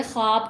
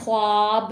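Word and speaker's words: خواب: मगर आप देखें इसमें ये जो ये वाला वाव है, इसकी आवाज़ हम प्रॉपर नहीं बोलेंगे, ये हल्की हो जाएगी इसकी बस आवाज़, नरमी से अदा होगी। नेक्स्ट क्या है वर्ड, ख्वाब। तो इसको भी हम क्या कहेंगे, ख्वाब कहते हैं, ख्वाब नहीं बोलते इसको।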